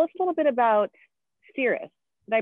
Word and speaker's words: Seirus: So then tell us a little bit about Seirus. Did I pronounce that right? Yeah, very good. Very rarely do people usually try to put the I after the R. So Seirus, so after graduating college,